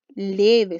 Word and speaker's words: leve: Por lo tanto, veamos, ¿dónde está la sílaba tónica de esa palabra? ¿Cuál es la sílaba que suena más fuerte? ¿Será leve o leve? Leve, ¿cierto? Por lo tanto, la que está marcada con rojo es la sílaba tónica, ¿cierto? Es la más fuerte. Por lo tanto, esta palabra, al estar con su sílaba tónica en la penúltima sílaba, es una palabra grave.